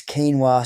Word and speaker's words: quinoa: She looked me dead in the eye and said, "It's quinoa, sweetheart."